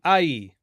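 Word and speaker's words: ܗܝ: And then ai. Once again, we have the Aleph with the A vowel, and then a silent he, and then the letter Yod.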